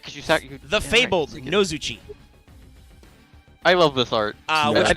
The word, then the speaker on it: Nozuchi: Because in Japanese, this is just Mago Shinjo Nozuchi. Like, literally just N-O Zuchi. In the TCG, this is spelled No-Zu-Chi. Like, double vowels all the way down. It is Yeah, awful. no. Not chi as in C-H-I. No. Double E. C-H-E-E.